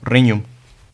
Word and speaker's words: regnum: La GN suena como la ñ española. Y así terminamos con palabras como regnum.